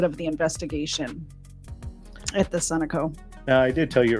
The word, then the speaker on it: Sunoco: pumping gas at the Sunoco. I always in my head call it Sunoco, and I know that's wrong. It's pronounced Sunoco, isn't it?